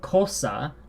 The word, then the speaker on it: cosa: So we have the K, cosa, like the English word cat, and then we have cerro with the S sounding, the soft fricative, the S sound.